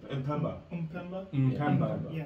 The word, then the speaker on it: Mpemba: Mpemba. Okay, the Mpemba effect was created at that point. We'll spell it out for you in the video.